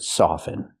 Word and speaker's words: soften: Never pronounce the T in the word soften. With the verb soften, the T is always silent.